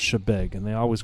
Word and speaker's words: Chebeague: like big but it's actually pronounced shebeg and they always correct you and you always